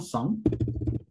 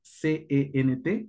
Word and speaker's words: cent: Para el 100 existe la forma que digas como un ciento, se diría un cent, o literalmente solamente cent. La pronunciación de C-E-N-T, C-E-N-T, será cent. Cent.